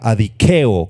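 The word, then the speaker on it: ἀδικέω: La palabra eh griega para injusticia o para injusto es la palabra adiqueo con k y acento en la e.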